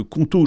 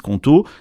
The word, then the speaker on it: Qonto: Justement, c'est là que Conto change la donne, parce qu'ils ont non seulement